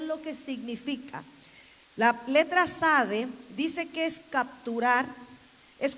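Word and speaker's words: צדי: No se pronuncia la T, solo es sade, algunos dicen sadi.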